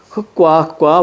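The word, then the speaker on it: 흙과: 흑과. 왜? 리을 기억은 뭘로 발음한다? 뒤에 걸로 발음한다. 흑과 이렇게 가셔야 돼.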